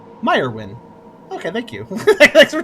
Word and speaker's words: Myron: broad smile hi there I'm Myron the Mage pronounce meyerwin meyerwin okay thank you thanks for telling me how